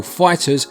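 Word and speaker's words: FighterZ: the excellent Dragon Ball Fighters, which is also on the Switch, and makes the point of how to pronounce the Z moot by having it act as an S, which is a double win.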